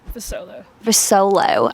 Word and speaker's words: Vusolo: Vusolo.